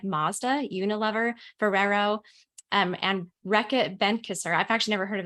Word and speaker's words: Reckitt Benckiser: Yes, you pronounced it right. It was Reckitt Benckiser.